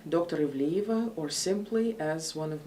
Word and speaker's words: Ivliyeva: and might be a little bit difficult to pronounce i respond to uh dr dr ivliva or simply as one of my previous students